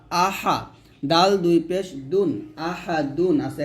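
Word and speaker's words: أَحَد: ডাল দুই পেশ দুন আহাদুন আছে এখানে যদি আমরা এখানে ওয়াকফু দেই তাহলে হবে আহাদ এর ডালটা কি হয়ে যাবে কলকলা হয়ে যাবে আহাদ আহাদ এরকম হবে তাহলে একসাথে হবে কুলহু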